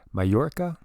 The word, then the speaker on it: Mallorca: these like um well mallorca that's you know double l is like a y and in spanish that was one of